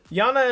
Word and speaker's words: Iana: still live at home versus another noun to pronounce her name it's Yana and aurochs the new when they say she's